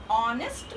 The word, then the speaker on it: honest: See here, honest means, here don't pronounce H-O-N-E-S-T, honest. What is the pronunciation of honest? H-O-N-E-S-T, honest. Don't pronounce here, H is silent.